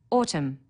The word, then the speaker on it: autumn: Autumn, a silent N on the end.